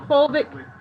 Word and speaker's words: fulvic: Paul, can you spell that folic or fulvic?